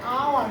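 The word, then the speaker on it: hour: এখানে কি শব্দটা কি হাওয়ার নাকি আওয়ার? শব্দটা হচ্ছে আওয়ার।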